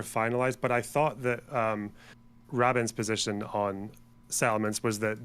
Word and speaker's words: Rabin: Like every fucking Israeli person I've spoken to, which is like 3, I've heard say this, is they pronounce it Rabin.